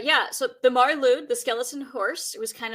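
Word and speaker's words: Mari Lwyd: this practice in Britain across Britain was the marud and that's spelled m a r i l w d so the the marude is a skeleton horse and uh she is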